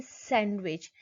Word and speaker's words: sandwich: Handsome, Wednesday, sandwich. Here you can notice silent D in the above mentioned word.